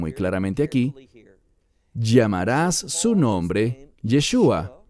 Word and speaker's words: Yeshua: Y ellos dicen Yahshua. Bien, hay un problema. No con el mensaje, no con su intención, sino que Yahshua no es hebreo. Es una creación humana para pronunciar ese nombre y es incorrecta. No es fiel a lo que dice el texto, que llamarás su nombre Yeshua.